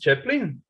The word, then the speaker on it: chaplain: other words european languages but it's pronounced chaplin chaplin is a sort of assistant in a church a chaplain so it's like like charlie chaplin right same word yeah yeah